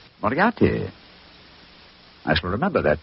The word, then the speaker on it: Moriarty: spelled m-u-r-t-ry no dmi i have so much trouble with my name people will either misspell it or mispronounce it i'm afraid i'll have to begin calling it the way it looks m o r i a r t y mariarty mariatti i shall remember that